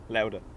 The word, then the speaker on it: Lauda: So you think you pronounce Lauda as in powder. Okay, so louder. Lauda. Like chowder.